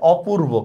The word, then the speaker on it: অপূর্ব: right এটা কি হবে অপূর্ব কেন অপূর্ব হবে কারণ এখানে না বোধক অর্থ দিছে ঠিক আছে অ পূর্